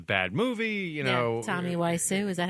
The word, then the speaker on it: Wiseau: essentially is a bad movie, you know, Tommy Wiseau, is that how you say his name? Tommy Wiseau, yeah, Wiseau, yeah.